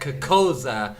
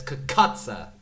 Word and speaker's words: Cucuzza: I said Cuccosa and it's Cucuzza, right? I'm still wrong.